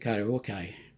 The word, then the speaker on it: Karaoki: I use pcdj Karaoke. It's karaoke but spelled with an I at the end.